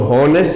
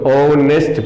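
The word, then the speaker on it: honest: हैं प्रोनाउंसिएशन ना, तो हम इसको होनेस्ट नहीं पढ़ते हैं, हम इसको ओनेस्ट पढ़ते हैं।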